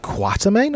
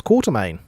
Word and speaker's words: Quatermain: Quatermain? I just thought it was Quartermain. Maybe they're just mispronouncing it in that movie.